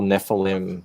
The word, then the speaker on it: Nephilim: bell but I like I like the whole Nephilim that's how you pronounce it yes yeah I like that whole